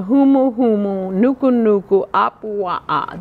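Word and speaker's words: humuhumunukunukuāpuaʻa: All right, any other words here on the last two lines where the humu humu, nuku nuku, apua'a. That is actually one word. I've divided it into syllables.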